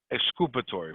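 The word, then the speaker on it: exculpatory: the next one is the excupatory clause i'll spell it for you e x c u l p a t o r y excupatory for those who speak spanish culpa yeah you don't you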